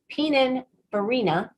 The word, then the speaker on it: Pininfarina: His experience includes working as chief designer at Grand Studio, senior exterior designer at NIO Alfa Romeo Maserati, creative designer at Pininfarina.